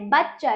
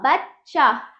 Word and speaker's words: बच्चा: चा क्या हुआ बच्चा अगर यदि यहां पर हम पूरा चा कर देते तो क्या होता बचचा क्या होता है बचचा हो जाता क्या हो जाता बचचा बच्चा बच्चे च क्या है अशुद्ध उच्चारण है है ना क्या होता है बच्चा तो हमें च को पूरे च को आधा करके बनाना पड़ेगा तभी जाके उच्चारण होगा बच्चा वरना क्या हो जाएगा बचचा वो गलत है ठीक है बा प्लस